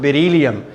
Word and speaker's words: beryllium: All right, that has to be pronounced beryllium. All right.